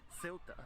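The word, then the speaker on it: Ceuta: became seyuta in Portuguese and is now of course pronounced as silta by its Spanish inhabitants invasion of the Iberian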